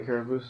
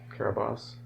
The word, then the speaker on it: Carabosse: You like what when Lilac was saying the Caraboose is coming? Yes. I keep meaning to look up and make sure we're pronouncing that name correctly. Carabosse.